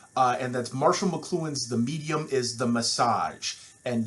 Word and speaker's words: The Medium Is the Massage: and that's marshall mcluhan's the medium is the massage and yes it is spelled that way and pronounced that way it's not a typo we will cover that